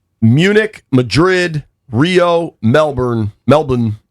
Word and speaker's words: Melbourne: Melbourne is how they pronounce it. I feel like a fool when I say it without the Australian accent, but here we are.